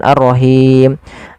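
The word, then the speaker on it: الرحيم: syamsiah kemudian pfal arrahim hati-hati di lafal ha ha kecil Jang arrahim nanti merubah artinya ha dari pangkal Maaf dari tengah tenggorokan kita kemudianfal himim ada Mad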